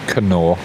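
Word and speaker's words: Knorr: is it double r in the uk it's pronounced nor but the thai ladies over here call it canoe get this manao powder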